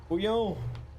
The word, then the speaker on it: bouillon: Bouillon!